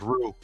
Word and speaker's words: roux: Rocks with crab, shrimp, crab legs, clam, crawfish. I never ate crawfish in my life. I think it's pronounced roux.